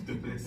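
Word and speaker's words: Du Plessis: Duplessis. Yeah, that's how you say it. It's French.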